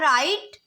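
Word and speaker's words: write: हो गया नेक्स्ट है राइट राइट में यह जो डब्लू है यह साइलेंट है रेंच डब्लू साइलेंट हो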